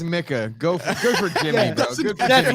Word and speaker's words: Micah: He still says Micah.